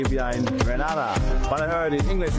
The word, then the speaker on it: Grenada: It's Grenada. It's not Grenada. It's Grenada.